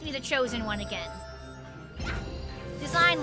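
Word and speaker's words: Dasein: the chosen one again design like fashion design it's pronounced like design but it's spelled like d a s e i n he like he has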